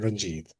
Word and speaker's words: Ranjit: go with our proper pronunciation. So Sundari and Ranjit.